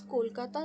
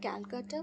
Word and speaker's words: Kolkata: It's Kolkata, not Calcutta. In an interview, you pronounce it like Calcutta.